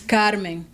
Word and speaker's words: Carmen: The long R is part of my heritage. My name is Carmen. Learn to pronounce it.